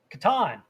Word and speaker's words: Catan: How do you pronounce Klaus Teuber's The Settlers of? Catan.